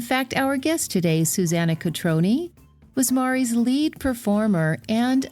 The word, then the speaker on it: Cotrone: Everybody calls it Cotrone Pilates, but in the Italian language, I learned this from a client of mine, every vowel is pronounced. So that's why it's Cotrone Pilates.